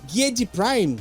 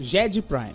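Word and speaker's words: Giedi Prime: isso nós temos no planeta ged Prime isso Jed Prime Jed Prime corrija a pronúncia mesmo corrija pron porque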